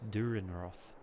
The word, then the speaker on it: Dürrenroth: know and this and it's pronounced with an e at the end so it's durin Roth I unfortunately can't really